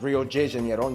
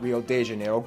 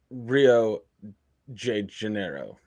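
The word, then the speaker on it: Rio de Janeiro: that's right it's pronounced Rio Jano not Rio Deano get it right we're not in Mexico this is Portuguese not Spanish okay say it with me Rio janiro Rio J Janeiro oh man Rio J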